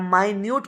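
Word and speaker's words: minute: देखो मिनट पढ़ेंगे तो टाइम वाला मिनट होता है, स्पेलिंग इज सेम, लेकिन जहाँ इसका मतलब छोटे होता है ये एडजेक्टिव होता है, माइन्यूट पढ़ा जाता है इसे।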